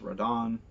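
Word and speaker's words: Rodin: characters like Rodon who's spelled like rodent but is pronounced Rodon Enzo Shawn and Lucca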